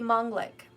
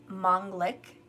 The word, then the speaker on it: Manglik: this masculine would be mongolic mongolic people or some proper pronunciation say mongol but i was brought up to hear it say mong lick okay but whatever mongol